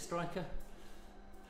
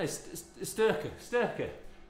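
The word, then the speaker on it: Styrkr: Is it Striker? Archaea? No, Sturker, not Stry. Sturker gels.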